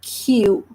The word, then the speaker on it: queue: is becoming Q because the sound of letter U is U. So we are pronouncing this word as Q.